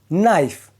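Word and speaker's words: knife: देखो जब भी के के बाद एन आए तो के साइलेंट रहता है। अब नाइफ में ही देख लो। यहां पर के के बाद एन आया है। इसीलिए के साइलेंट है।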